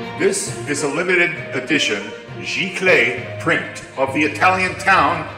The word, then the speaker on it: Giclee: It's pronounced Giclee.